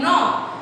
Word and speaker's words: knob: comes is n, ob, knob. But we don't write only n. We write k and n together. Why? The sound of alphabet k is silent here.